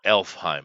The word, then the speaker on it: Alfheim: general it's okay until we get to alfheim or elfheim i guess as they pronounced it um and uh you